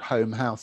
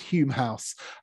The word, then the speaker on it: Home House: This was the it's called Home House, it's actually pronounced Hume House, but this was Samuel and Elizabeth Courtauld's home, Hume House in Portman Square, just